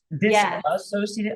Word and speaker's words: dissociative: You mispronounced it. I'm like I know sometimes it's hard to say dissociative but you're adding an extra vowel by saying dissociative. So you're making it even longer, by the way.